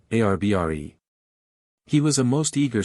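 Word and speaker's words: arbre: same way he was taught to pronounce ape sing and tree ARB re he was a most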